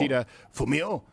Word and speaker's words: Kishida Fumio: Kishida Fumio, I think that's how it's pronounced. It's guttural.